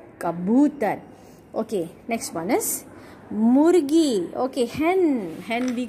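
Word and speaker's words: मुर्गी: Totally three letters and two symbols are used. So murgi.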